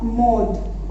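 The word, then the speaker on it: mode: 6 है ला मोड। Okay, मोड means fashion, और हम इसको क्या प्रोनाउंसिएशन करेंगे इसका, मॉड, ठीक है, बिकॉज डी इज दे, तो मॉड।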